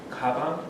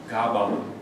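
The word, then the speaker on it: 가방: But like you say kaban, that ka, you really don't feel the voicing come in until that ah part of the syllable. So that's one thing. Yeah, voicing isn't contrastive. So if you say like gaban, like ga, like in English kind of G, Koreans will still understand you probably as saying kyo, because it's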